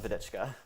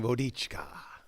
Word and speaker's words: Vodicka: it's just at vedica but i love the pronunciation i've been saying vodica that's so nice where's that name come from it's a check name a check name nice